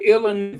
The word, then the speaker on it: Illinois: two three now uh Illinois the S is silent here we go perfection